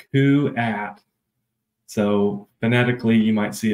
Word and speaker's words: Kuat: question right off the bat the name is pronounced C at so fanatically you might see it as k